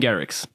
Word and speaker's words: Garrix: Your pronunciation is just a little bit different. It's Dutch, so yeah. What is this? Martin Garrix.